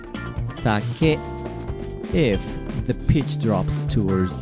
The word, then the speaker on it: sake: hey ba accent impact so it should be pronounced sake if the pitch drops towards the second letter